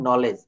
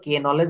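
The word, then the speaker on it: knowledge: আজই আপনাকে পাঠিয়ে দিব শব্দের শুরুতে কে এন থাকলে তার উচ্চারণ হবে ন এক্ষেত্রে কে ওয়ান উচ্চারিত থাকবে যেমন নলেজ আমরা কখনো কে নলেজ বলি না এখানে আমরা এই এন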